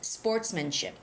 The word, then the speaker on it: sportsmanship: This is really hard because there's S in the middle, so it's sportsmanship.